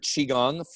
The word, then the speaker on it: qigong: fact saying the word qigong is probably the hardest part of this practice so it's spelled q-i which means that's chi that means your life force energy gong as in gongfu everybody knows what kung